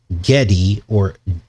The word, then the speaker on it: Gedi: It's Gedi, but remember, G can also be pronounced with a J.